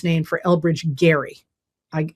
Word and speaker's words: Gerry: It actually comes from um Elbridge Gary. I don't, you know, it's one of those things that's how you pronounce his name, but they call it gerrymandering.